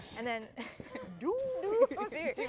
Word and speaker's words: Duviri: That's how you pronounce it, by the way. Duviri. Э, And then Duviri.